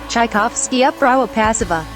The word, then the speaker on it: Czajkowski Uprawa Pasowa: Czajkowski Uprawa Pasowa.